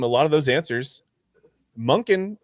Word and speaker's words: Monken: Um, second, as you saw from a lot of those answers, Monkin rhymes with not flunking.